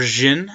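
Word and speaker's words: Djinn: really like lotus path division or jin as the actual pronunciation is uh rage form is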